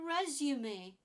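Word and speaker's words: résumé: resume it's not resume it's not resume this one is a resume resume this is about you when you're going for a job you need to give your new employer a resume to show them your skills resume three syllables again thumb now it's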